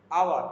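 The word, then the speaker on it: hour: I will come after আওয়ার, এখানে উচ্চারণটা H silent রয়েছে, আওয়ার, ও ইউ আর, আওয়ার, কিন্তু এটা ঘন্টা প্রকাশ করছে, তার মানে এই স্পেলিং অবশ্যই এইচ থাকবে, বাট সেটা সাইলেন্ট থাকবে।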